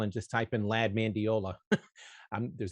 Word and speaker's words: Mandiola: It's actually spelled the way it's pronounced, Mandiola.